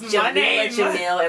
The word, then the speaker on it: Jameela Jamil: Her name is Jameela Jamil in real life. Not Jamil, but the first one.